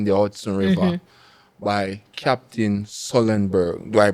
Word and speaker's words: Sullenberger: In the Hudson River by Captain Sullenberger. Do I pronounce his name right?